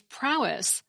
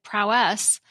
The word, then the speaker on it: prowess: dictionaries say the pronunciation is prowess, with the emphasis on the first syllable. The Oxford English Dictionary lists the way I pronounce it, prowess, with the emphasis on the last syllable, as the third British pronunciation option.